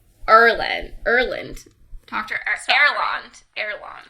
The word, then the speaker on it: Erland: name but it cuz last time I was saying Arlon which my bad that's not it for asand but it's Erland Erland drand erand spell